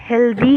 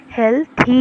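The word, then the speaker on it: healthy: मैंने अभी लाइन में माई हेल्थी कहा, आप सब ज़्यादातर हेल्दी कहते होंगे, लेकिन प्रोनाउंसिएशन सही हेल्थी है।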